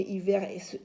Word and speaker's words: hiver: Alors vous allez me dire, maîtresse, oui, mais hiver commence par un H. Mais vous savez que le H ne se lit pas.